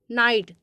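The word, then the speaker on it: knight: तो इसमें देखिएगा जैसे नाइट तो यहां पर देखिएगा नाइट के एन आई जी एच टी तो नाइट में देखिएगा के का उच्चारण नहीं किया जा रहा है अब नेक्स्ट एग्जांपल देख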